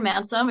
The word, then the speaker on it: Mansum: My name is Dr. Mansum. It rhymes with handsome, and I'm a veterinarian, also an author and illustrator, stand-up comedian, and public speaker.